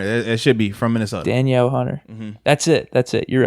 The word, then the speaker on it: Danielle Hunter: That's how I pronounce it. Yeah, that might be it. It's Daniel Hunter. It should be from Minnesota. Danielle Hunter.